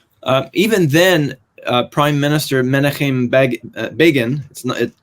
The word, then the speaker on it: Begin: Even then, Prime Minister Menachem Begin, it's written Begin, but it's pronounced Begin, had the courage to strive for peace.